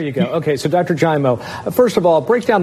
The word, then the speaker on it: Giaimo: did not joining us today is dr joe gaimo he's a pulmonologist at a staff over at